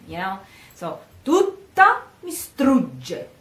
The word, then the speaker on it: strugge: So, tutta mi strugge, g, g. In this case, g, strugge. Again, you prepare the mouth for the G and you pronounce it while you're almost saying the E, the A.